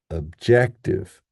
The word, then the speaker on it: objective: First syllable is now schwa. So we have a, a, and then our power syllable, ject, and then our last syllable, unstressed, objective, objective, which is very different